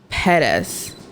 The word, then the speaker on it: Pettis: I was gonna say Madison Pettis. Is it pronounced like that?